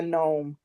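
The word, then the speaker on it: Noem: So, did you did you say her last name is Gnomes? Gnome. Like what? Spell it.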